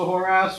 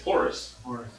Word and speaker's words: Horace: So Varric is gonna say, do we want to all approach the whore ass, or do we want to just one of us approach the whore ass? This is really named Warren. It's Horace.